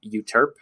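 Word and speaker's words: Euterpe: song one of them it's pronounced I think you Terp and it's eu te are PE for anybody who wants to look it up I don't even think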